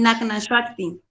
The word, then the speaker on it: Nagna Shakti: No, es fácil, Nagna Shakti. Shakti. Shakti. Nahna. Shakti. Ok, oh, súper, qué Como si curioso. fuera a decir Shrek.